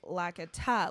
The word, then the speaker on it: Lakitu: it's actually Lakitu, like the Tums, but that's fine.